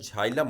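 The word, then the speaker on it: xylem: अगर शुद्ध उच्चारण इसका क्या होता है, झाइलम होता है, लेकिन जाइलम जाइलम सब लोग करते हैं।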